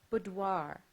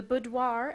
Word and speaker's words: boudoir: Your word is boudoir. The boudoir adjacent to the master bedroom was, to Brooke, the most fascinating room on the tour.